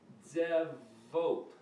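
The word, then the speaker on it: צבאות: In Hebrew, though, it's pronounced Zevot. If you use the other letter phonetics, Zevot.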